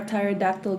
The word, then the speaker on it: pterodactyl: Why can't you hear a pterodactyl go to the bathroom? Why? Because the P is silent.